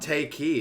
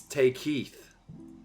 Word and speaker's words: Takei: on the album oh it's not take key it's take Keith oh whatever Frey and